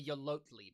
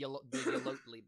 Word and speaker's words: Yolotli: The Ohtli Basin. Can you spell that for us? I guess Tina? it's the Yolotli Basin. Yodel. Yeah, I added a couple of syllables in there. It's the Yolotli Basin.